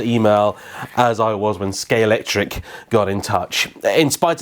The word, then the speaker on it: Scalextric: as I was when scale tric got in touch in spite of the fact that I like nobody can pronounce the damn thing it's scalex trick I think is the correct way of doing it this